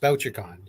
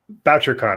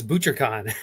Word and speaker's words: Bouchercon: BoucherCon. I always called it BoucherCon. Well, I think I was ButcherCon until I'm like, oh, that's not how you pronounce it.